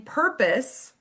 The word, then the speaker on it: purpose: In purpose, purr is stressed and pus is not. So the long o in pus change changes to a schwah and the syllable is pronounced pus, right? Um, so if there's an e at the end, right, it should be like road o, it says its name, but it doesn't in purpose, right?